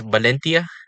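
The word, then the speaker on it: Valencia: balona and here is valentia oh and the V is a b less confusing actually uh lots of languages have V's pronounced as B's and even in English they sometimes sound like B uh a way I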